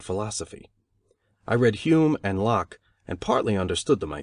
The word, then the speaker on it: Locke: i read hume and locke and partly understood them i think though i did not know that lock is pronounced in only one syllable till many years after